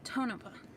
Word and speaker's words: Tonopah: Emphasis on the first syllable. Tonopah.